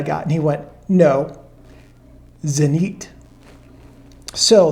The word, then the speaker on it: Zenit: and he went no zenite so the proper pronunciation according to my ukrainian friend is zenite this was the zanit